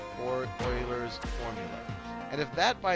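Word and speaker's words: Euler: And this is Oilers's formula. I always pronounce them right over here. And this right here is Oilers's or Oilers's formula.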